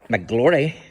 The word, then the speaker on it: McClory: whenever he Bronte and Alice mcclory grandparents of the famous Bronte sisters I looped here to be married so uh he Bronte and Alice mcglory thanks that's how you pronounce her name m small c big c